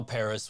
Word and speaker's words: Pris: I think you pronounce it Paris. Yeah, it's pronounced Paris.